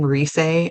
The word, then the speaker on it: Rise: in a fight too her name Reay is spelled r i s e so it looks like the American word rise so she's able to